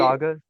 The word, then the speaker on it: Gonzaga: Sorry, Gonzaga, I think. Sorry, how do you say it? Gonzaga.